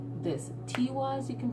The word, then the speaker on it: Tiwaz: Tiwaz, you can pronounce it, but T can be pronounced like Tuesday. Tiwaz, you know, Tuesday. So it all depends on how you pronounce it.